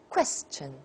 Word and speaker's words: question: thousands next question question a lot of people say Christian Christ a Chan and that's Chinese it's not English question question what level and